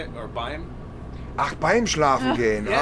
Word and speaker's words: beim: Or Beim?